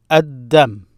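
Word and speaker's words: الدم: Ad-Dam, Ad-Dam. Notice I did not pronounce the L there.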